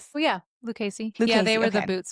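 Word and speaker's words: Lucchese: was it is I don't know how to pronounce it. Lucasey. Lucasy. How do we say these boots? Well yeah Lucasy.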